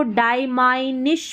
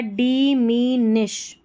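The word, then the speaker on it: diminish: Fragmented fragmented in कैन अब इसको डायमाइनिश पढ़ेंगे क्या पढ़ेंगे देखिए सभी में आई जो है ना इसको इ पढ़ना है तो हो गया डिमिनिश डिमिनिश एस एस एच को श पढ़ते हैं।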